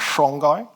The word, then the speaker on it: Songhai: We then moved to the third of the great West African desert empires called the Songhai Empire. Some people pronounce that as Songhai.